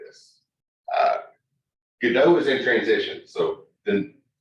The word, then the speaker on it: Godot: by Spanish-speaking people, so maybe the original pronunciation should have been Godot. Most people go with the French pronunciation, but in America, you'll hear Godot a lot.